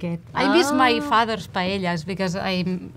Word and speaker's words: paella: So you pronounce the L, paella. Paella. So in Catalan we have an extra letter, which is elle. It's made by two L's. And the sound is L, which is paella.